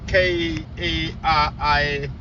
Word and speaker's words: Karibu: spelled differently, but it pronounced the same.